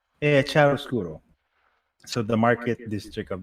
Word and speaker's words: Chiaroscuro: I keep forgetting how to pronounce it. Chiaroscuro. Yeah, Chiaroscuro.